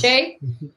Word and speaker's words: Shea: And Rob Roy McCandless, Matt Campbell, aka John Carlin Shea. Did I pronounce that right? Yes. Shea?